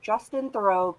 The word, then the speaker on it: Theroux: Was it? Throw? No, Theroux. Justin Theroux.